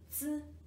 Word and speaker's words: 子: 鸡一熬, 鸡一熬, 饺, 饺子, 饺子, 子, 子. This is also overall recognition syllables, so there's no need to spell it. The pronunciation is just 子, 子, and it's neutral tone.